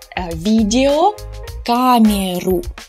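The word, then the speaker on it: видеокамера: It's an interesting word because here you might think this is an unstressed O, but actually it's a foreign word. And we will pronounce it as two words, actually, because it was imported from English, video, камеру. So, two words. That is why О is pronounced as it is. It's not reduced.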